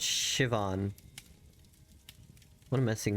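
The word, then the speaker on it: Siobhan: Sioban, pronounced Shivon.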